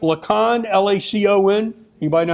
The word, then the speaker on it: Lacon: Lacon, L-A-C-O-N. Anybody know how to say that? Marshall County, Illinois is where he is from. Lakin.